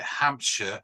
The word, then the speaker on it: Hampshire: Rings the shires but when you see something like Hampshire you pronounce it sure okay I'm sure Lincolnshire